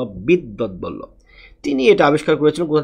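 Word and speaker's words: বিদ্বদ্বল্লভ: উচ্চারণটা লিখে দিয়েছি, এই উচ্চারণটা মানুষ করতে পারে না। বিদ্যৎবল্লভ, বিদ্যৎবল্লভ।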